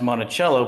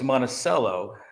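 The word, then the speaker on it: Monticello: you uh so I used to work at Montichello uh or Thomas Jefferson's you know home and uh it was pronounced Montichello but there were people from a town in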